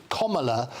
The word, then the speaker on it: Kamala: including lots of students, to get her name pronounced rightly, and nobody does in the media. Her name is Kamala Harris, is what it is.